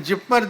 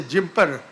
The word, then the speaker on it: JIPMER: So they used to ask, what is, even Jipmer they didn't pronounce. Most people will say Jimper.